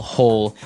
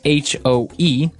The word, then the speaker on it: hoe: If you want to make maybe a small hole in the ground, you would use a spade. And now our last tool has a kind of a funny spelling. It's h o e.